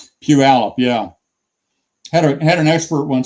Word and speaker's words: Puyallup: So I'm assuming you can say Puyallup, right? Puyallup, yeah.